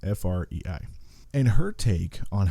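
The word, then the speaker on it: Frei: her name right but I think it's Francis Frey Fri and her take on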